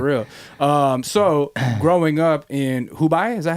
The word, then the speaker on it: Hubei: So growing up in Hubei, is that how you say it? Hubei, my bad.